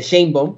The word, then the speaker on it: Sheinbaum: No voy a entrar en detalles en eso, porque se ha convertido en una controversia la pronunciación del apellido. La doctora dice Sheinbaum, pues así le vamos a decir, ¿no?